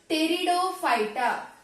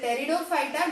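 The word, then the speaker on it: Pteridophyta: p is silent here so here p is silent so only we need to pronounce it as a peridot okay it is a peridot phyta don't pronounce p but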